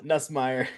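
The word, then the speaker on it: Nussmeier: Nusmeer.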